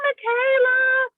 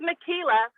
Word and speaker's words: Makila: be like oh hi michaela hi my cougar that's my granddaughter michaela is my granddaughter yeah it's makila oh how do you pronounce